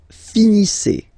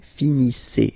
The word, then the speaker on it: finissez: Vous finissez. Vous finissez. Okay, a Z at the end gives you the sound E. Okay, finissez.